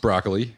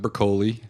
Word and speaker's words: Broccoli: Yes, we've learned that broccoli is actually pronounced broccoli. It's not broccoli Oh, that's or anything else. Albert Broccoli's name is pronounced like the vegetable.